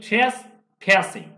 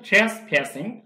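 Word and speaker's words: trespassing: হয় তা ফর কি জন্য থ্রেস উচ্চারণ দেখুন থ্রেস ফ্যাসিং American pronunciation থ্রেস ফ্যাসিং থ্রেস ফ্যাস মানে অনুপ্রবেশ করা থ্রেস ফ্যাসিং অনুপ্রবেশের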